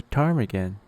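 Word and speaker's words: ptarmigan: camouflaged with its feathers this is a Tarman do you see it it's spelled with a p to start the word in the summer time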